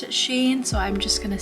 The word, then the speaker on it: SHEIN: so i am testing sheen makeup she and sheen however you want to say it i believe they clarified it and said it's actually pronounced she in but i've always pronounced it shane so i'm just gonna